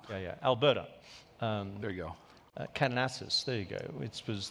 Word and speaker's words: Kananaskis: Well, the President cut his time short in Kananaskis. That's right. Yeah. Have I got the pronunciation? Call it Calgary if you want. Yeah. Alberta. There you go. Kananaskis, there you go.